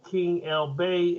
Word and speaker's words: Keng El Bey: Go to King L Bay as it's spelled.